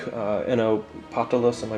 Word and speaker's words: Patalas: With this process, there was a 30-year sequence of time in which people like uh Enno Patalas, am I pronouncing that correctly? Patalas, yeah.